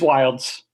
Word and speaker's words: Wilds: wrong but is it wilds or will wildest it's wilds okay wild it's perfect